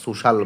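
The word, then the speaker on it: social: তো আচ্ছা এখানে একটা জিনিস তোমাকে শিখায় দেই যে এস ও সি আই এল এটার উচ্চারণটা যদিও মনে হয় সুশিয়াল তবে এটাকে সোশিয়াল উচ্চারণ না করে সোশাল বলবা।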